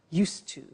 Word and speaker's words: used to: have now, we use used to. Look at the spelling. It's U-S-E-D and then T-O. But the pronunciation is not used, it's used. Unusual. Used.